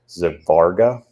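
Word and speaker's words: Svarga: of being called, and I don't speak Sanskrit, but it's something to the pronunciation of Zivarga, S-V-A-R-G-A.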